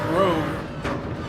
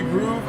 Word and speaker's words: Grove: My name is not Rover, it is Grove. It's not Rove. A lot of people struggle with my name. They call me Groove. I get a lot of double O pronunciations. Like, what's up, Groove? Everyone in South America, everyone in Europe and around the world calls me Groove.